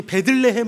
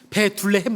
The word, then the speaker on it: 베들레헴: 레이라는 어 발음이 똑같은 말이 또 있는데 여러분 혹시 베들레헴 아시죠? 베둘레헴 말고요.